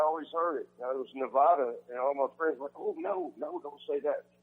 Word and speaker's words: Nevada: You said it right, Nevada.